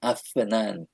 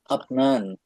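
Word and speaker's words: أفنان: ওটা আরবিতে ওইভাবে উচ্চারণ করে না। ওটা বলে আফান। আফনান আমরা বলি যদি আপনান ওটা আপনান বাক এসে যাবে।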